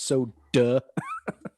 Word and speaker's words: soda: me some soda like there's no r at the end of that word sir it's so duh i'm gonna emphasize the duh because you're saying it wrong and jay jay texted